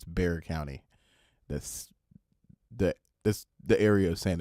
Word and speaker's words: Bexar County: are not from Texas, they're going to pronounce it Bexar County, but it's Bexar County.